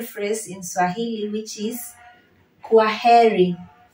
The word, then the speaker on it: kwaheri: a very simple phrase in Swahili which is queri quiry so the word quah means goodbye in Swahili and that's how we we pronounce it query query query which means goodbye so when you're telling